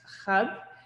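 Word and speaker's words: حب: The symbol is the Arabic word for love, which is pronounced khab.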